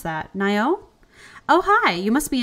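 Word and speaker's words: Nai'o: oh there's oh great day for a run Nyo I actually don't know how to pronounce that naio oh hi you must be in Newtown new in town I'm naio oh he's romanceable and the oldest son of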